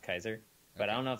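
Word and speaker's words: Keyser: do you intentionally that up Kizer yes I did okay because I know it's pronounced Kaiser but I don't know if that's actually how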